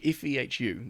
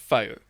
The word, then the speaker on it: Fehu: See, I thought that was Fehu. It's pronounced Faux. Fehu. Yeah. Right. Okay. Yeah, that's just the technical pronunciation.